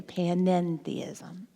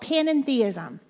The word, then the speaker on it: panentheism: That's what that little extra syllable means, the end, the panentheism. So we here, Reverend Shannon and I, the things that we teach is called panentheism.